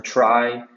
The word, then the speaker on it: trie: described by edward who coined the term try after the middle syllable of retrieval so retrieval means to